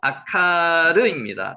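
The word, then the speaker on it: עקרה: 아카라고 기록되 있는데 실제로 아카르입니다. 단어는 아카르.요 기록 꼭 해 놓으세요.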